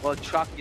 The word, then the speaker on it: Walczaki: It's pronounced well chaki, notaki.